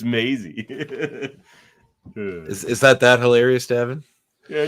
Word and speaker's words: Maisie: I just said Mozzie, then corrected Rain because Mozzie's the actor, or Maisie. No, it's Maisie.